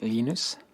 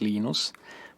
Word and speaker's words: Linus: When I speak Swedish, it's Linus. When I speak Finnish, it's Linus. When I speak English, it's Linus. And I really don't care how people pronounce my name. But Linux is always Linux.